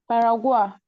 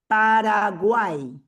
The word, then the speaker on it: Paraguay: Paragua. Okay. This is how you pronounce it. Paraguay.